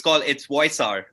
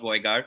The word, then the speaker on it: Voisar: And sorry, it's Voisar, not Voigar, Voisar, and we'll move forward with that.